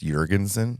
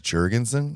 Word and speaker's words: Jurgensen: don't know if you're if you want to be ethnically um accurate it's Jurgensen Jurgensen but we're in America so the correct way to say it is Jurgensen okay yeah cool I